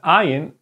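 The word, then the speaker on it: ע: And the ayin is exactly the same. It's pronounced the same. Okay, it makes the same sound.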